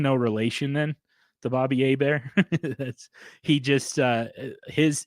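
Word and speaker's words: Hebert: off um says i do pronounce my last name like former saints quarterback bobby a bear even though i am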